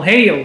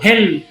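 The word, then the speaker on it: heill: Daí que vem a palavra Hel, que a gente conhece como Hail, mas a pronúncia não é assim, nenhuma língua não. Perfeito. O Hel, e ele é um adjetivo, ele significa íntegro.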